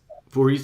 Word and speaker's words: Voorhees: And they had both Sam on and Eric Voorhees. How do you pronounce his name? It's Voorhees, or I don't know. That's good. Voorhees, yeah.